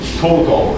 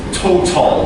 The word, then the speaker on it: total: So the word total, I'm not saying total, I'm saying total like this.